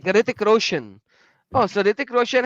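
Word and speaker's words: Hrithik: Ritik, yeah, just like Ritik. So just like Ritik. Oh, just Ritik. You don't even pronounce R. H is silent.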